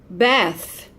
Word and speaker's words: Beth: We have Beth, Beth, like Elizabeth, okay? Beth, it's that sound, the voiceless, okay? Like think and truth. Beth.